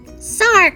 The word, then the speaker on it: Sarg: Sarg rhymes with arg!